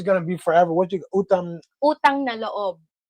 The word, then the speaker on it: utang na loob: What you Utang na loob. utang na laob Loob.